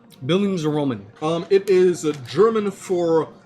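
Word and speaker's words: Bildungsroman: of a tongue twister it's a German word I believe it's pronounced bildings Roman Billings Roman um it is German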